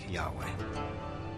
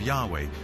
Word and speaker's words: Yahweh: would be YH whh which we think were probably pronounced something like Yahweh but Yahweh only appears